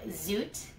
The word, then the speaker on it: Zoet: your company and what does it mean so zoot that's how it's pronounced it means sweet gentle and soft and